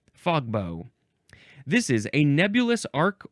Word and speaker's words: fogbow: It's like a like a bow and arrow kind of. That's how the bow is spelled, but it's fog bow.